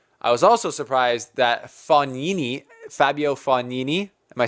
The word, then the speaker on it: Fognini: I saying that right I was roasted in the comments section by you guys for saying Fognini which is how it would be pronounced if you're like Canadian hoser like me but apparently it's like instead of saying f OG like fog Nene it's funny knee so right Fabio Fognini